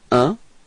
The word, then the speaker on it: un: So, un. Repeat. Un. Okay, it's quite tricky this one because it's nasal, so it's coming in your nose, okay?